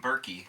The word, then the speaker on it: Berkey: Nope, I'm Berkey, just like jerky, but spelled with a B.